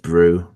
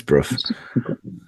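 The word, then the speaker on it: Brough: place looks quite nice Bru is it or is it bro I don't know I presume it's Bru it's actually pronounced Brew no it's not it's Bruth this looks quite nice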